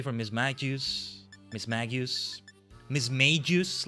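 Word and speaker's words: Mismagius: Miss Magius, like mage.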